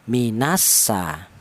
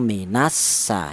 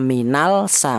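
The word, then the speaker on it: مِنَ السَّمَاءِ: Jadi minassa cara penulisan ada ada lama ada lam di sini ya ada alif lam mati ya k cara penulisan ada alif lam cuman cara bacanya alif lam ini dianggap tidak ada cara bacanya langsung minasa inilah namanya idgham tidak dibaca minal sa enggak memang ada lam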